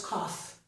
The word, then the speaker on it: cough: But we pronounce the GH, so it's cough.